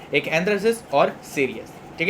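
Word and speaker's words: cereus: है सीरियस ठीक है इसको और भी बहुत तरीके से प्रोनाउंस करते हैं इम्यूनोलॉजी के माइक्रोबायोलॉजी के अलग-अलग साइंटिस्ट हैं अलग-अलग तरीके से प्रोनाउंस करते हैं बट we will pronounce pronounce it एज सीरियस okay so let's get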